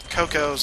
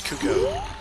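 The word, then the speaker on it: Cucco: chickens in this game they're actually called cucko not cucko not uh uh you know Cocos it's cucko anyway here is Talon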